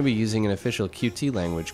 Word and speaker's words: Qt: simple application and yes I'm aware that I'm pronouncing cute wrong but saying an official cute language sounds weird so I'm just going to refer to it as QT to get started with